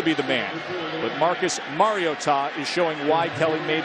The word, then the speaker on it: Mariota: Thus the pronunciation, by the way. It's been said Mariota, Mariana. Mom called the athletic department about a week ago. She said, do me this favor. It's Mario and then Ta.